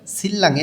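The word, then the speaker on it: 신랑: থেকে সিল্লাং এর বরের এখানে নিউনের পরে রিউল আছে দুইটাই লইয় লাল উচ্চারণ হবে সিল্লাং সিল্লাং মানে হচ্ছে বর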